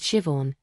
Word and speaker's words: Siobhan: Her name was Siobhan. It's pronounced chio, but don't worry, everyone gets it wrong.